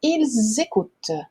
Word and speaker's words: ils écoutent: Porque esse S ele vai fazer a liaison com o E. Então, vai ficar ils écoutent, tá?